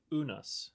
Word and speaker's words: unus: It is uh Unus. Unus. One in Latin. Unus. Oh, okay. Cool. Like pronounced O- N US.